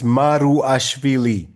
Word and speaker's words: Maruashvili: No, it's I'll spell it. It's like Maruashvili. It's Maruashvili.